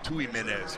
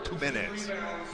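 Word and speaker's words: Tuminez: I tend to say Tumenez, but it's Tumenez.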